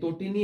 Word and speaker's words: তটিনী: আমাদেরকে রাকি বাড়ি তো বারবার প্রশ্ন করছে যে তটিনী এবং ব্রাহ্মণ কথাটির উচ্চারণ কি। আমরা তটিনীর উচ্চারণটা তোমাদেরকে দেখিয়ে দিই, এটার উচ্চারণ হবে তো টি নি, অর্থাৎ এখানেও একটা সংবৃত উচ্চারণ আমরা দেখতে পাচ্ছি।